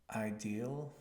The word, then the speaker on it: ideal: you say ideal so really think about how it's spelled and try ideal ideal India pronounce each of those vowels as they are written I like India e